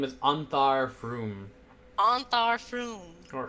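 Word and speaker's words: Frume: His name is Anthar Froom. Anthar Froom. Or From. From? But it's F-R-U-M-E, so I pronounce it as Froom.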